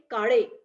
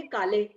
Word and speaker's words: Kale: तो Maharashtrian people will say काड़े, और North Indian बोलेंगे काले.